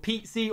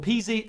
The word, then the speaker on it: Pizzi: I got Pizzi or Peasy, however you want to be pronounced. I know people always pronounce them two different variants.